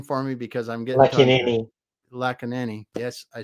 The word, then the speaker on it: Lakkineni: your last name for me because I'm getting lucky Nanny yes I said it right the first time